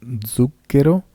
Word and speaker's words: zucchero: el italiano, recordarás que la Z se lee como si fuera una D y una S. Lo zaino, lo zucchero y lo zio.